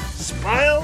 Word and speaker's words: spile: Actually, this is called a spile. Remember, spile rhymes with smile.